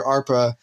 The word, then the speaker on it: ARPA: be charged under sorry that's the correct way to say it you would want arpa so it's kind of